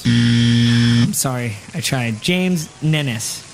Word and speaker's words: Ninness: James Ninness. Correct. Ninness? Ninness. It rhymes with Guinness.